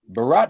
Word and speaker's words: Bharat: Joining us now from the National Economic Council, Bharat Ramamurti. Bharat, how are you, sir? I'm doing very well, thank you. Did I pronounce your name correctly? That was great. Bharat rhymes with Barack.